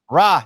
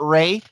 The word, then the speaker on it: Rajon: you you we good my biggest pet peeve is how many times people get rajon names mispronounces his name it's so it's so disrespectful so disrespectful because it's ra not rey stop trying to make him